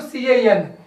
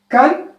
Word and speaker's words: can: coming to can here this word can be pronounced in a two one is a kan another one is a can is the weak form you can call it wf is the weak form and the cat is the strong form in addiction we can